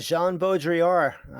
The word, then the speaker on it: Jean Baudrillard: How do you pronounce Jean Baudrillard? Jean Baudrillard.